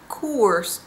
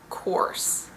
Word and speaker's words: course: the third difference is in the vowel in course i heard van gaal pronounce it as course with more of an oo sound i would pronounce it or coarse the fourth difference is